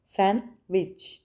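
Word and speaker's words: sandwich: इसमें D silent letter है। हम इसको ऐसे प्रोनाउंस करेंगे। सैंडविच। सैंडविच। सैनविच डी को प्रोनाउंस नहीं करेंगे।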